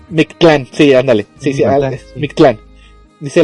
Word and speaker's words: Mictlán: poquito difícil la pronunciación ellos se refieren mi clan no mictlán Sí ándale Sí mictlán